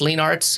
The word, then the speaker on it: Leenaarts: challenging uh it is it is Dutch it's very Dutch um there's only about